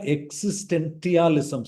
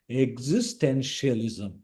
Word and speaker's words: existentialism: This is not existentialism. Somebody will read this word as tentialism. The pronunciation of this word is existentialism.